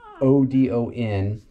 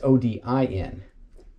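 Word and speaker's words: Ödön: It's Odon. That's actually a Hungarian name, and it means prosperous protector. Yeah. It's also the god of gods. No. That's spelled differently. That's Odin.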